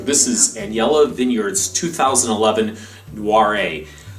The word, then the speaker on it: Noiret: This is Anyela Vineyard's 2011 Noiret. How many times did you have to pronounce that?